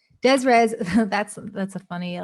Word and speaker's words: des res: how you pronounce this this is des res yeah yeah desires that's that's a funny